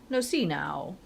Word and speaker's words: Nocino: Because to me it looks like Nocino. I'd say Nocino, but apparently it's Nocino. It's a C, not a chi.